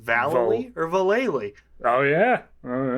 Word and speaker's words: Vallely: And is it pronounced Vallely or Valele? Oh yeah. Oh yeah. It's Valele, and it's not.